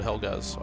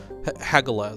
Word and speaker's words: Hagalaz: Technically, I haven't actually explored Helgaz, I suppose, so... Hagalaz, sorry, is how it's pronounced.